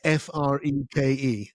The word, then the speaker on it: Freke: It's a funny name, but it is pronounced Freak, which is kind of crazy.